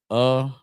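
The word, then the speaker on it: אחד: To say one in Hebrew is Akkad, like Captain Akkad.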